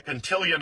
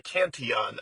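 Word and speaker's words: Cantillon: I'm not sure if it's the Contilion effect or the Canton effect. I've heard people say it both ways.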